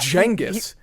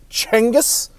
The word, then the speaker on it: Genghis: really really about it and go jingis but Jenga tends to be the the pronounciation we land on okay so the Great